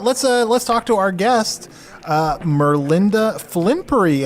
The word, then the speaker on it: Merlinda Flimpery: Let's talk to our guest, Merlinda Flimpery. Am I pronouncing that correctly, Merlinda?